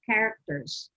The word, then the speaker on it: character: This is characters. Okay, Character, characters. The CH character, is pronounced with a K.